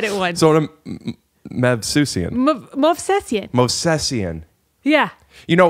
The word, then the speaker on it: Movsesian: How do you say it? Movsesian. You say it like you said Smith.